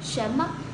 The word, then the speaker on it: 什么: Cong lưỡi ở bên trong và bật hơi ra, chúng ta đọc là ân ở sâu trong cổ họng, sau đó đọc là shén shén shén mắc shén mắc mắc, đọc nhẹ thôi vì là âm ngắn mọi người nhé.